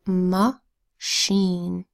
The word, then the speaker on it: machine: CH I and II now remember how I makes two long vowel sounds along i sound i and along e sound e well in machine i makes a long e sound so we have machine next word magazine first